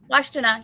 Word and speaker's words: Washtenaw: Yeah, some of them have grave sites in, I can't really pronounce this town's name, Washtenaw? Washtenaw, yep.